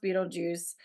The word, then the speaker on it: Beetlejuice: it like varies and apparently it was always supposed to be spelled Beetle G but pronounced Beetle Juice and the studio was